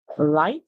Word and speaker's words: light: and these two words the GH is silent the I makes the